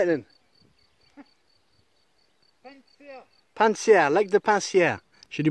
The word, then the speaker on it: Pannecière: Pincière, lac de Pincière. J'ai du mal à le prononcer.